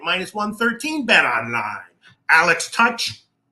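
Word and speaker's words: Tuch: 113 bet online Alex touch how do you pronounce that Jim toque right tuck tuck right plus 137 that's a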